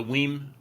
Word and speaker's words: WiiM: about is the um we mini the whim excuse me whim mini I've been trying to pronounce this correctly M fact I have a story about that in a moment but uh the whim mini uh I hope I haven't said weim before if I did I'm